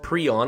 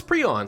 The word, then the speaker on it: prion: do that now I do believe it is pronounced pron I've pronounced it pron in the past but uh I did a little research which means I looked it up on Wikipedia and it said it was preon so I'm going to call it preon from